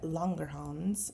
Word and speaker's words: Langerhans: islets of langerhans and longer homes is how they pronounce in the book and they see they